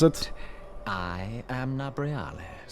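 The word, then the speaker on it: Nabriales: How do you pronounce it? I am Nabrialis. Nabrialis.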